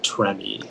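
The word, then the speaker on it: tremie: there any alternate pronunciations uh it's just the one tremmy and it's french from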